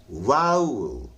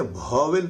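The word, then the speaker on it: vowel: और ये है वाउल, वाउल, हम लोग इसको करते हैं वॉवेल पढ़ते हैं, वॉवेल नहीं होता, वाउल होता है, ठीक है।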